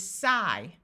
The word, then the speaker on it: sigh: here are some examples IG has a long I sound so this part is I so the word is sigh tight there are a